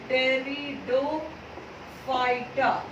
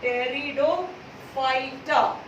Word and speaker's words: Pteridophyta: Pteridophyta. This P is silent over here, no? Pteridophyta.